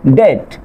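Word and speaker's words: debt: তারপর খেয়াল করেন ডেট, ডাউট, সাটল, এখানে কি আছে, বি এর পরে ঠি আছে, এই জন্য কি হচ্ছে আপনার এই বি লেটারটি সাইলেন্ট থাকছে।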